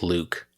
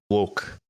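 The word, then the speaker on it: Lewckee: don't tell me it's Luke so that's good um it's actually pronounced like look look like I'm looking for something look it's look so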